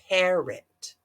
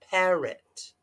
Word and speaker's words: parrot: we don't it's a parrot parrot it's got the schwa the O makes a uh what schwa more than one parrots parrots because the emphasis is on the first vowel song parrots got it